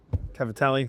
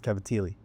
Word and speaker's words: cavatelli: Well, you know, if you're in if you're in Jersey, it's Cavatili, you know, so that's how they pronounce it.